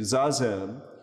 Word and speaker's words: Zazen: And his gentle way of inviting people into Zazen, which is in fact the Japanese pronunciation with an extra syllable, Zen, is from the Sanskrit dhyan.